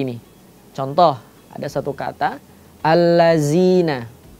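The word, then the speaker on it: الذين: berubah menjadi seperti ini contoh ada satu kata alladzina alladina atau di ayat yang lain ya ayyuhalladzi terbacanya seperti itu yang awalannya pengucapannya itu adalah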